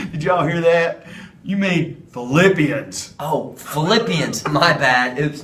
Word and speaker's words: Philippians: Paul's heart or so since Philippians sounds like the word flip let's flip our hands